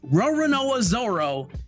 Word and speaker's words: Roronoa Zoro: That's how you say it, Roronoa Zoro, you absolute larper, Logan Paul.